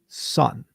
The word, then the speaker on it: Hoskinson: Is it Hoskinson or Hoskinson? Like, what is it? What's the right way to say it? Hoskinson. Are you sure about that? You're sure? Son. Hoskinson. Hoskinson. Hey, Justin, you got it. Like the Hoss.